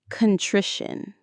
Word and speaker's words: contrition: One more time, contrition. The stress is on that middle syllable, tri, contrition.